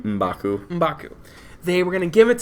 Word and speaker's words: M'Baku: They're going to the Jabari tribe to meet M'Baku and give him the heart shaper, the last one.